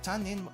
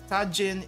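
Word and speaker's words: 他人: Tajin I feel like tanin oh here we go let me try tanin I let me try tanin they actually accept tanin they accept tanin Tajin is not the the correct pronunciation apparently there we go okay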